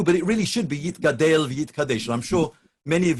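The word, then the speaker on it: יִתְגַּדַּל וְיִתְקַדַּשׁ: particularly in Yekish Minyanim, that people saying Kaddish actually will say Yit Gadel V'Yit Kadesh, because that conforms precisely to the canons of Hebrew grammar. Most people have adopted the Aramaic style of pronunciation, albeit on Hebrew words, and say Yit Gadal V'Yit Kadash. So we continue.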